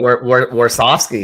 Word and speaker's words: Warsofsky: You say Warsofsky? Is that how you say it? Warsofsky, yes, sir.